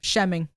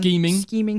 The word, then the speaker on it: scheming: Shemming. That was a good one. Scheming. I read Shemming.